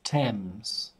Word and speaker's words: Thames: and the pronunciation is Thames there's a there's a th but the pronunciation is just T and it's the river